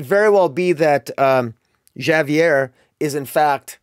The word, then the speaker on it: Javier: well be that um Javier is in fact or Javier I always pronounce the J I apologize to my Spanish listening friends Javier is is likely